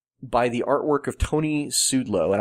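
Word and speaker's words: Szczudlo: Birthright was defined by the artwork of Tony Sudlow, and I think I'm pronouncing that right. Sudlow. Yep. It's spelled Sczudlo.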